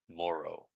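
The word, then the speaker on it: Moreau: Morrow.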